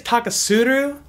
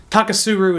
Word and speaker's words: Taketsuru: is Nika taka su I think it's taka tsuiteru if I wanted to say it properly but taka suru is fine for the Americanized version the Nika taka suru